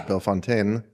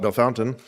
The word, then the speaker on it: Bellefontaine: And um I went out to Belf Fountain. It's I would pronounce it Belf Fontaine, but the locals call it B Fountain.